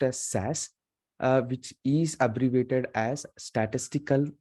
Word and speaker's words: SAS: as we say the SAS application application is pronounced as SAS which is abbreviated as statistical analysis system okay